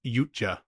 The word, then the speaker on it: Yautja: Yeah, it's like Yaucha or something. I think it's pronounced Yucha. Yucha. I looked into it. Okay, cool. Ya is probably fine, too.